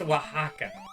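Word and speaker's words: Oaxaca: my silly Mario game it's pronounced Waka of course so region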